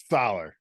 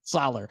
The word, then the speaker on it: Soller: Solar, Solar.